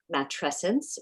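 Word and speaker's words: matrescence: specifically for women as matressence rhymes with adolescence so it is such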